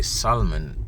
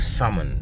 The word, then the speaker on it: salmon: I used to say Solomon because it's spelled s m o n but I was told it's salmon it's like sa m o n the L is silent I was told going